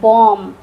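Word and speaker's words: bomb: हम लोग बोलते हैं बॉम्ब। बॉम्ब नहीं बोलते हैं। बी यहां पर साइलेंट है क्योंकि ये एम के बाद है। तो इसको पढ़ते हैं बॉम्ब।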